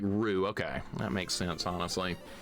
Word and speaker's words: Ryu: It's Ryu in Japanese with the accent. It sounds like ru.